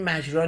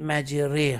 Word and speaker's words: مجراها: باید میذاشته چون مجرا نمیخونید، میخونید مجره ها. مجره. بین را و ری تلفظ میشه، میشه ره.